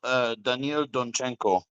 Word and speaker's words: Donchenko: Yeah, it's Daniel Donchenko.